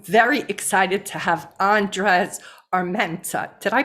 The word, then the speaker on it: Armienta: for now for us i gotta get the rolling of the r oh no it's all